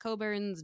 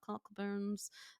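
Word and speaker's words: Cockburn's: and Dows and coburns it's pronounced coburns not cockburns um if you see it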